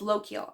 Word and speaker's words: Lochiel: But this one's about a girl named Lochiel, and she has, Lochiel, I can't remember how to pronounce her name. No, it's Lochiel, I believe.